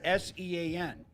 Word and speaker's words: Sean: So it's just it it looks weird but it is pronounced that whole Irish thing.